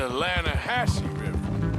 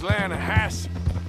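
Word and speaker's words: Lannahechee: caught some beautiful steelhead trout you made an Atlanta hash no no no the Lana hatch it runs right near here yeah but it's pronounced Lana Hass why is everything in English said differently than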